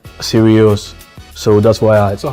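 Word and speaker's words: Sirius: of the star the dog star is called seral so that's why I so how do you spell that s i r i u s seral yes yes s i I thought it was like serious okay like so serious no no no no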